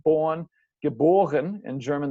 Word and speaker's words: geboren: Born, geboren. In German, the emphasis is still on the B, the second syllable.